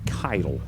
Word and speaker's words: Keitel: The intended receiver on that play was number 81, Hayden Keatle, a 6'1" senior. I believe they told me that Keitel is how you say his last name.